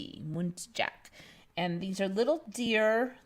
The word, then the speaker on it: muntjac: And this one called, I think it's pronounced Muntjac. It's Muntjac, Muntjac.